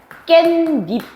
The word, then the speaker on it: 깻잎: 그럼 얘 발음 어떻게 나? 깻잎 아니야? 그럼 어때? 없던 니은 들어갔네?